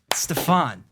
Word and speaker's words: Stefan: Hey, is it Stefan or Stefan? Stefan rhymes with effin.